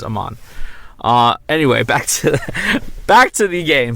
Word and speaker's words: Amon: I like Amon because it sounds like a badass, like Egyptian, like warrior or something, but it's probably pronounced Ammon because it's based off almond. I guess it all depends on how you pronounce almond. Are you an almond person or an Ammon person? I'm an almond person, so this is Amon.